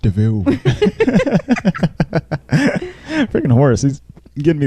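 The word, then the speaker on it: de Vil: call yourself cruella deville it's like devil but it's pronounced deville freaking horse he's getting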